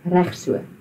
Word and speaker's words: reg so: you can just say reg so. Reg so. Reg so. So you've got to roll the R and straight after that it's the ch, so reg so.